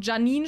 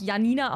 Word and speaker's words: Janine: sowas wie keine Ahnung Janine spricht man ja auch nicht Janina aus sondern Janine und das kann man